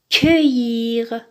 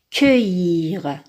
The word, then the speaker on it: cueillir: Attention ici, on a un U devant C, mais on le prononce E. Pourquoi? Parce que normalement, nous avons un E ici. Nous avons E, U, ça se prononce E. Mais pour la phonétique, pour que C ait la prononciation que, on a inversé le E et le U. Donc, on a commencé par U, ensuite E.